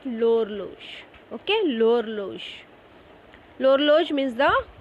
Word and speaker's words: l'horloge: it is L apostrophe because it starts with the letter H, so it is L apostrophe. And how are you going to pronounce it? L'horloge.